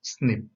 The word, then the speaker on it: SNP: is single nucleotide polymorphism the short form is snp and it is pronounced as snip snps are the locations